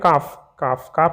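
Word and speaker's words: calf: ठीक है, तो यदि हम बात करते हैं काफ मीन्स होता है बछड़ा, यानी गाय का बछड़ा, भैंस का बछड़ा, है ना, तो इसमें साइलेंट लेटर क्या होता है, L।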